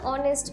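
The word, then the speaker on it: honest: তাহলে অ্যান অনেস্ট ম্যানের শুরুতে অনেস্টটা একটা ভাওয়েল সাউন্ড বলে এর আগে আমরা অ্যান বসিয়েছি।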